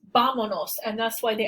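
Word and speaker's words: vámonos: vamanos has an accent without the accent this word would be pronounced with the stress of the voice here bonos but that's not how it's pronounced it's pronounced vamonos and that's why the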